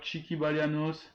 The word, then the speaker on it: Tchiki Balianos: N'hésitez pas à aller follow sur Twitter Chiki Balianos, TCHIKI Balianos comme ça s'écrit et comme ça se prononce, pardon.